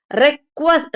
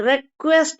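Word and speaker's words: request: இப்ப நடுவுல வர்ற குவா சவுண்டு பாத்தீங்கன்னா ரெக்வஸ்ட், ரெக்வெஸ்ட், ரெக்வஸ்ட் அப்படியெல்லாம் சொல்லக்கூடாது, ரெக்வயர்டு அப்படியெல்லாம் சொல்லக்கூடாது. எப்படி சொல்லணும்? இங்கேயும் குவா சவுண்டு நம்ம எடுத்துக்கணுங்க. அப்ப எப்படி உச்சரிக்கணும் அப்படின்னா ரெக்வெஸ்ட், ரெக்வயர்டு, ரெக்வயர்டு, ரெக்வெஸ்ட்.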